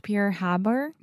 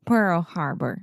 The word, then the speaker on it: Pearl Harbor: what I know about Pierre Haber okay one more time Harbor Pearl Pearl Harbor sounded like you're trying